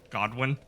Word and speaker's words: Godwin: His name's it's not Godfrey, it's Godwin. Godwin, yeah, the guy with the sad eyes that are everywhere. Stupid Oh, I didn't Elden know. Ring names. Yeah, Godric, Whoa. Godwin, Godfrey, Godfroy, who isn't